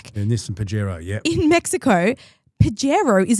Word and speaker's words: Pajero: He mentioned the Pagarro is coming back. And this and Pajero.